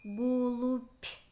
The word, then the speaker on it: голубь: Голубь. Слышится «п». Проверочное слово «голуби». Значит, нужно писать слово с буквой «б».